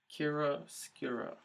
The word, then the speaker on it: chiaroscuro: I looked up how to pronounce it, chiaroscuro.